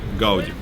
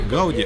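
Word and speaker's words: Gaudí: Вот у меня одна из первых ассоциаций это Гауди. Хотя если говорить правильно, то по-каталонски будет не Гауди, а Гауди.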